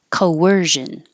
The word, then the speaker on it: coercion: bewildered coercion excuse me it doesn't look like there's a w so this is a hidden W or intrusive W because you're going from a rounded sound Co to an unrounded sound ER Co were coercion coercion girl um for the